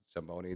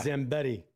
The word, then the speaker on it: Zambetti: Well, you know, Mayor uh Mike Reid and uh a guy Zamboni, they're uh if I said it right, sorry if I didn't. It's not Zamboni. Reed calls Zambetti. Zambetti. Okay.